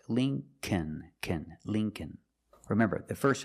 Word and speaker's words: Lincoln: The second L is silent, so it's Lincoln, Lincoln.